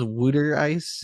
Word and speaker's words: water ice: It's water ice, pronounced here as wooder ice.